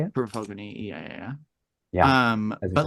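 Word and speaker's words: Purva Phalguni: Purva Falguni, yeah.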